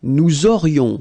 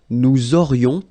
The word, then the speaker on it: nous aurions: Then, nous aurions, so this little link between the two, this liaison, nous aurions, final S not pronounced.